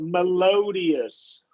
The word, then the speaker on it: melodious: here we're going to do a long O, so melodious. Melodious.